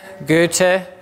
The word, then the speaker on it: Goethe: all around the German writer Goethe and is that's how to say it in German once said doubts can